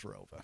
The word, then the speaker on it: Rova: There was an additional town added after I graduated, but it's always been pronounced as Rova. So what was the town that was added?